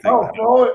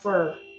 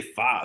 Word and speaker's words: pho: Pho. It's actually pronounced fur. It's so. I'm not kidding. That's what it's pronounced. It's PHO, and it's not pronounced pho.